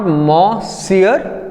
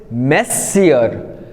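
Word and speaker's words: monsieur: will repeat this मो इट इज नॉट मो सियर इट इज मेस सियर which मींस सर एंड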